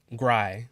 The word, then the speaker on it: Gry: Next we got Gry, which is like cry, but with a G. I know that's how you pronounce it, because I actually know that's how you pronounce it. It's in the lyrics.